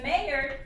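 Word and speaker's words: Maillard: this non-enzymatic browning is called the mayor reaction they are our reaction we say in the French pronunciation which he was French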